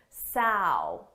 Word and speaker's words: sow: Sow, ow.